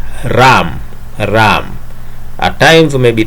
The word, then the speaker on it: RAM: random access memory and this random access memory is normally pronounced as ram ram at times may